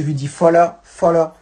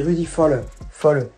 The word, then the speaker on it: Rudi Völler: Moi je dis Rudi Völler. Parce que le V se prononce F et ER je le prononce un peu R.